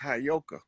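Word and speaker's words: heyoka: That word is properly pronounced Hayoka.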